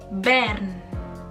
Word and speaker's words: Bern: Menurut lo, cara baca ibu kota ini bagaimana? Disebutnya yaitu Bern.